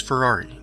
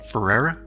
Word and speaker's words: Ferrera: got your name correct Miss Ferrari did I get that correct Miss Ferrera yes that is correct Ferrera did I pronounce that correctly yes you did wedm that's your